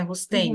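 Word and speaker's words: Roustaing: Então, eu gostaria de saber o seguinte: esse Rusteng, é assim que se pronuncia mesmo, né? Rusteng.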